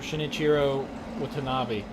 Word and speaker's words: Shinichiro Watanabe: I believe you pronounce his name Shinichiro Watanabe, but he's the guy that did Cowboy Bebop, Samurai Champloo.